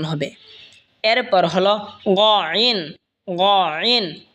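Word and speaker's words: غين: এরপর হলো গইন, গইন হলকের শেষ ভাগ হয়তো উচ্চারণ হবে গইন, গইন।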